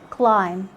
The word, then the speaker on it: climb: a word like in climb limb thumb lamb lamb in all these words you just ignore the b and you and you